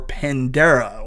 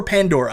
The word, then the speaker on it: Pandora: find out more about Avatar the battle for Pandera or I said that wrong Ponderosa the battle for Pandora I did say it right again I've never